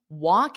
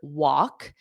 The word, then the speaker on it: walk: So you can use this term walk in. Notice how I'm pronouncing this. Walk because the L is not pronounced on the word walk.